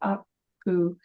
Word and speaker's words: Ajpu: Pronounce it Apu, AJPU, Munoz, and he's a